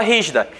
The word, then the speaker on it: rígida: a honestidade da palavra rígida rígida é a antepenúltima a sílaba tônica é antepenúltimo psb tônica